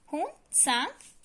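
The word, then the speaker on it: Hiuen Tsang: से ही आए थे हुन सांग एंड फा हेन। इसमें टी हमारा साइलेंट रहेगा।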